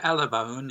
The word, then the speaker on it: Alabone: am I pronouncing your family name correctly? Yeah, Alan Bonin, yes.